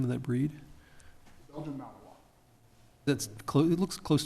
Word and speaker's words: Belgian Malinois: What's the name, how do you pronounce the name of that breed? Belgian Malinois.